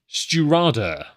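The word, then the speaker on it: Stiùireadair: Anyway, S-T-I accented U I-R-E-A-D-A-I-R, pronounced Sturada.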